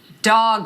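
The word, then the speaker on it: Dogue: go quick brand up dog restaurant yes this is this is for you Mika um you've got restaurants popping up all in the country there's one in San Francisco called Dog rhymes with Vogue specifically targeted at dogs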